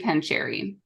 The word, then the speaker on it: Pancheri: it right that time right yep and Melody pancheri did I say your last name right you